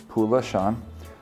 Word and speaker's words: Pulashan: I mean, my username is Pulashan, which sounds like the word pollution.